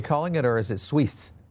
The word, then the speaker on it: Sui: about, and that is SUIS. Is that what you're calling it, or is it Suisse? Well, technically it's SUI, is how you say it, but yes, that is the tick.